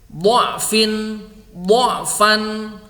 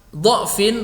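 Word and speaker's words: ضَعْف: Kemudian du'fan sama dengan du'fan, ya. Du'fin atau du'fan boleh dibaca du'fin atau du'fan. Saya baca versi yang pertama.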